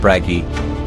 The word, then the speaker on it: Bragi: bragi is pronounced bragi he is known in ancient Norse sources as